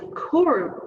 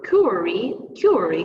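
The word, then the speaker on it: QWERTY: front of us is a kurie query excuse me keyboard this is pronounced and also entitled by the first row of letters q-w-e-r-t-y a curing keyboard this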